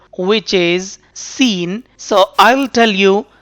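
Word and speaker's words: س: pronunciation of this letter seen the point of pronunciation of this letter seen is by touching tip of the tongue with the edges of lower front two teeth and lightly with upper front teeth like za point of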